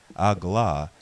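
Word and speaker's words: AGLA: that I shall be Allah is how the next god name is pronounced but it is most commonly spelled a GLA this is because of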